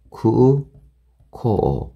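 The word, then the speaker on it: 空港: 쿠코 같은 경우에도 쿠코. 그죠? 쿠코. 네, 이런 식으로 생각하시면 여러분들이 장음 발음을 쉽게 할 수가 있어요.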